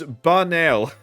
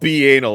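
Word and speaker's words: banal: frustratingly uh tediously dull pronounce bar nail not like the words it's not B anal all right I'm so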